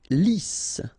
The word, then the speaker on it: lisse: Lisse. Double S here, so it's really a strong S.